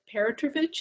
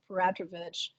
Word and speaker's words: Peratrovich: And it was about Elizabeth Perotrovich, is that how you say her name? Petrovich? KATIE SPANGLER: Peratrovich.